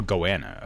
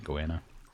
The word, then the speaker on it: goanna: are called goas goana rhymes with Joanna yeah or Joanna or goanna okay not goana goanna anyway it ran like